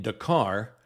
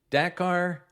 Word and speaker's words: Dakar: They were planning on landing in Dakar, which I hear pronounced both as Dakar and Dakar.